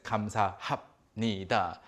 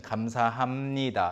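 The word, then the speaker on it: 감사합니다: ha ha me ha but nobody ever says comes ha ha NIDA except for maybe some potentially comical situations people always say more fluid a more natural pronunciation comes aa hamnida and this is actually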